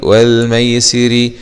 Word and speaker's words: والميسر: والميسي راء كسره ري والميسري نقف عليها والميسر بتركيك الراء.